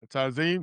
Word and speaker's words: Tazim: Did I pronounce it correctly? Thanks so much for joining us. Tazim, that's it.